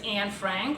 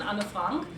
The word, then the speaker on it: Anne Frank: One of my pet peeves is actually her mispronunciation as Anne Frank rather than the German pronunciation Anne Frank, because there's a whole